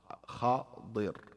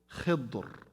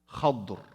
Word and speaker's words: Khadir: Al-Khadir, okay, you can say it with kasr al-dad and fath al-kha, Khadir. And you can also with Khidr, with kasr al-kha wa taskin al-dad. So you can pronounce it two ways here, Khadir or Khidr. This is another way to pronounce it. So you can do this way or that way. So Khadir, Khidr, Khadr, three ways. Khadir, Khidr, Khadr. Fatha on the kha, kasra on the kha, both ways.